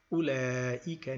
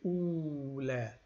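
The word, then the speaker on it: أولئك: ha'ula'i nisa'un, we say ula'ika nisa'un. And this waw is not pronounced. We do not say ula. We say u. We make it short. That waw is just not pronounced. It's silent.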